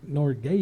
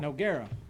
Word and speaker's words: Nogueira: Driggers and what junior Norgay yeah oh yeah I always say his name wrong Nogueira that's it saddle bronc court she